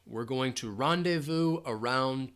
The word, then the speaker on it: rendezvous: So I'm hearing Manati says pronunciation rendezvous. rendezvous, rendezvous, rendezvous. So this is a French word. You're not going to hear that Z sound at all. Rendezvous. So again, that VOUS, rendezvous. We're going to rendezvous around 2 p.m.